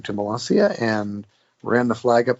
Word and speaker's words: Molassia: It's actually Melasia.